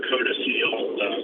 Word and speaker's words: codicil: You do what's called a codicil. Some people say codicil, it depends on where you learned the word,